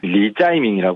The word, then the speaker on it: 이재명: 리짜이밍이라고 불러요. 이재명 이름에 대한 중국식 발음인데요.